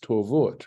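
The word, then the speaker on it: טֹבֹת: So Rashi's the point is this, it's pronounced tovot, right? But notice there's no vav in this word at all, right?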